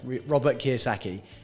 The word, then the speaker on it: Robert Kiyosaki: Yeah, Robert Kiyosaki.